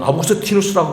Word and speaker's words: 아우구스티누스: 일반 안 믿는 사람들은 로마식 발음을 아우구스티누스라고 부르고 미국 발음은 어거스틴이라고 부릅니다.